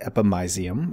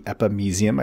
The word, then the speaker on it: epimysium: And if we move down, the next thing we can see here is the epimysium, or the epimysium. I've heard it pronounced both ways.